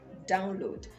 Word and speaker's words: download: ded not download it because the verb is download and not download download the stresses on the first syllable download so download it next